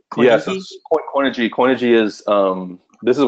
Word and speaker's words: Coinigy: A question about a platform that's calling itself being asked as an all-in-one platform, and I'm going to spell it out: COINIGY. Yeah, so Coinigy.